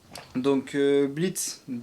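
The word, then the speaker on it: Blitzø: Donc on va commencer du coup par Blitz, celui qui est tout à droite. Blitz, qui s'écrit du coup Blitzo avec un O, mais qui est muet.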